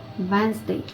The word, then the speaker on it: Wednesday: Получається, що ми, коли читаємо це слово при вимові, ми пропускаємо літеру першу D та другу літеру І.